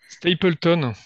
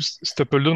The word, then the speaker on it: Stapledon: Stapleton, moi j'ai un accent pourri en anglais, donc. Ben, moi, encore pire, puisque moi, je dis Stapledon. Ah ouais, oui, Comme c'est ça encore pire. s'écrit. Comme ça s'écrit.